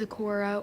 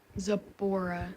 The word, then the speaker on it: Zipporah: don't know Oh some people say is Acorah or Zipporah like bora with a beat but no by the